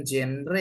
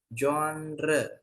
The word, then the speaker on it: genre: the next one nah ini cara bacanya bukan genre ya tapi jre jnre jnre itu aliran misalnya I